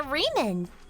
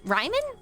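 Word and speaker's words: Riemann: What is there to hypothesize about with a with a reman? Ryman. Reman. Reman. Sorry, that does say Reman. I forgot how German pronunciation works for a second.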